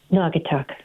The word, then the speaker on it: Naugatuck: You You've got to tell me, how do I pronounce the name of your town? Naugatuck.